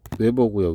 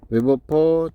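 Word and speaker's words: weber: 뭐 말이 저기하시면 어 자속이라고 읽으시면 돼요. 자기력슨의 숫자를 자속이라고 합니다. 자기장의 세기는 단면적분의 자속. 예. 그래서 자속은 단위가 외버고요. 외버. 외버. 외버. 어, 사람 이름이에요. 웨어버 제곱미 이렇게 되잖아요.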